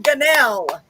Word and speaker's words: Gunnell: Gunnell. Gunnell, I said it right.